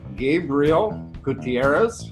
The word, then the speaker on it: Gabriel Gutierrez: sleeveless edition alright so I am here with Gabriel Gutierrez I pronounced that correctly been my game you did